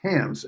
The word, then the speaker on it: Hans: And Hans Olson in Phoenix, that's Hans, H-A-N-S, It rhymes with chance, he says.